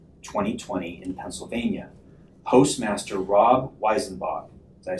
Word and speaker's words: Weisenbach: on Election Day, November 3rd, 2020 in Pennsylvania, Postmaster Rob Weisenbach, did I say it right? Yeah. Weisenbach, directed my coworkers and I to pick up ballots after Election Day and provide them to him.